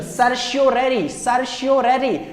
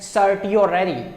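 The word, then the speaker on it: certiorari: तो प्रोनाउंसिएशन आपको जैसा समझ आएगा आप कर सकते हैं। Habeas corpus, that is 1। Mandamus, prohibition, सर्शियोरेरी, या फिर आप प्रोहिबिट इसको प्रोनाउंशिएट कर सकते हैं सर्टियोरेरी।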